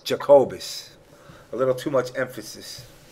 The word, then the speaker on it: Jacobus: Is that the proper pronunciation? Jacobus. Jacobus.